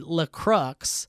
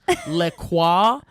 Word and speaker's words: LaCroix: was with was irate at your guys' funny pronunciations of the soda drink, LaCroix, and water. You said LaCrux, LaCroix, Wawa, Waller, That's my favorite.